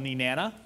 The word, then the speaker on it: Nenana: And this little town is called Nenana, rhymes with banana.